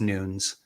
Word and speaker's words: Nunes: in portuguese itself right it's not pronounced with the uh with the dual syllables so it's it's nunes you know both so